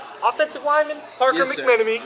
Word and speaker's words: McMenemy: To my right, offensive lineman Parker McMenemy. Is that right, McMenemy? Yes, sir. Nailed the pronunciation.